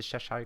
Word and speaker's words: Cheshire: That's how you pronounce it, the Cheshire cat.